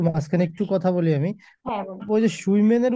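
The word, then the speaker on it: schwimmen: দিবেন তারপর একটু মাঝখানে একটু কথা বলি আমি সুইমেনের উচ্চারণটা কেমন হবে যে মানে সাঁতার কাটার উচ্চারণটা একটু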